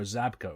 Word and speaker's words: Żabka: At a place I think is pronounced Żabka. There are convenience stores called Żabka or Zabka or something.